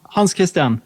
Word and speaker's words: Hans Kristian: How do I pronounce it correctly? Hans Kristian, how are you? Hans Kristian, yes.